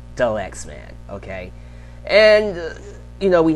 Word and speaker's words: Dalyxman: But, yes, it's pronounced Dalyxman. Like the Lexman, but slang the. Like Dalyxman. Like Dalyxman. That's how you say my name.